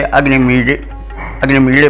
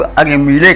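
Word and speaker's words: अग्निमीळे: तो इसके उच्चारण में दो तरह से लोग रथ दिखाई पड़ते हैं। कुछ लोग तो उसे इस तरह से बने हुए को डा करके उच्चारण करते हैं, और कुछ लोग ला करके उच्चारण करते हैं। जैसे अग्निमीड़े पहले ही में है, तो कुछ लोग उसको अग्निमीड़े कहते हैं और कुछ लोग अग्निमीले कहते हैं, कुछ मीले कहते हैं, कुछ मीले कहते हैं।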